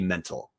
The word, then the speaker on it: Mental: there's some stability there I always gets his name wrong it's Mickey mental correct Dallas okay offensive coordinator Mickey